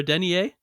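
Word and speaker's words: Adeniyi: It wasn't Aden. It was Ola Adeni.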